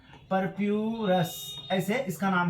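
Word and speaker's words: purpureus: Monascus परपोरस से। ये कहां कहां से ऑब्टेन किया जाता है? मोनोस्कस मोनस्कस परपोरस। ठीक है? इसका नाम भी परप्यूरस। ऐसे इसका नाम है आप लोग एनसीआरटी में देख लीजिएगा स्पेलिंग इसका मोनोस्कस परपोरस से इसको तैयार किया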